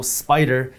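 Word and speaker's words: SPDR: just so you know spider is spelled s p d r now when we talk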